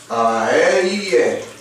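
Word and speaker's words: אהיה: And it's pronounced Ayeh.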